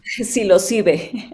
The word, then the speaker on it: Psilocybe: Uh, Psilocybe. I pronounce psilocybe.